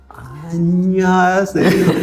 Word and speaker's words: 안녕하세요: 안녕하세요. Yeah. 안녕하세요. Koreans are not saying 야세요. They're just saying 안녕하세요. Like, 히읗 in Korean is not H.